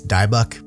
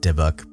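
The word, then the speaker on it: dybbuk: the word diuk which you would think it's dauk but I looked it up people pronounce it deok this can be traced back to Jewish folklore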